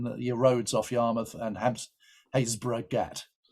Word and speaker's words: Happisburgh: roads off Yarmouth and Haysborough Gat, spelt Happisburgh but pronounced Haysborough.